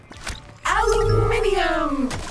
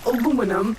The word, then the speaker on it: aluminium: Aluminium! Or aluminum, as Americans pronounce it incorrectly.